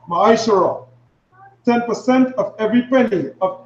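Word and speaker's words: מעשר: verses 8 to 10 means 10 in the Hebrew and is pronounced my surah 10% of every penny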